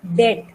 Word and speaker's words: debt: First call it debt. B is silent.